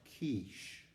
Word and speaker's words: quiche: A few moments later, a gentleman who is sitting right next to him leans over and says, "It's pronounced quiche."